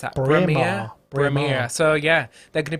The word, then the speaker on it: Braemar: How do you pronounce that? Braemar.